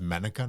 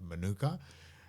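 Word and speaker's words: mānuka: It's it's it's pronounced manuka, not manuka.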